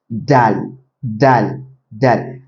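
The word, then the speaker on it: دال: Dal dal dal.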